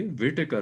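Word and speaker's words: Whittaker: 1967 में Robert विटेकर Robert विटेकर pronunciation सही होनी चाहिए, विटेकर वर्ड है, रॉबर्ट विटेकर।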